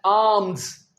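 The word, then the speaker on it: alms: इसके स्पेलिंग है ए एल एल ई जी ए टी आई ओ एन और next word है आर्म्स इसमें एल हम नहीं बोलेंगे ये है आर्म्स जिसका मतलब है भीख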